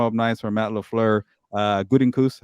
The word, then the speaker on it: Gutekunst: Gutekunst, how you say it, Fernando? Good. There you go.